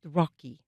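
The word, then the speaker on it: ROCI: Rocky Rocky after his favorite uh u favorite turtle Rocky that it's spelled R Oci the Rashenberg uh overseas culture exchange.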